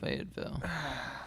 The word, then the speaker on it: Fayetteville: No, Fayetteville.